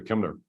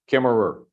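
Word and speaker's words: Kemmerer: say his name correctly, Kimner. Did I say that right, Mary? What's the correct? Kimmerer.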